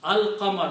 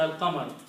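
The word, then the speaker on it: القمر: Al-Qamar, surah Al-Qamar, lam is pronounced there.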